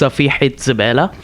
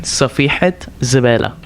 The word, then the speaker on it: Safihat Zabela: It's pronounced Safihat Zabela, and that's what he calls me. Whenever like I'm always trying combinations, and always like can you pronounce that one more time for the everyone? yeah Safihat Zabela.